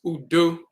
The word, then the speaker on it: udu: with the open palm, this is pronounced udu, udu, a table or altar for offerings.